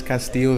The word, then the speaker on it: Castillo: yes ma'am Paradigm commercial group and thanks for pronouncing the last name right it is Castillo III and thanks for having me today yeah